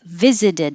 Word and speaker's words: visited: da da a woman visited us and i should say only the viz is stressed here while you were sleeping and